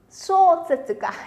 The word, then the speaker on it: 小説家: Đọc là 小説家. 小説家. Nhớ nhá, không đọc thành sơ. Thì nó sang sẻ. Nó 小説家. 小説家.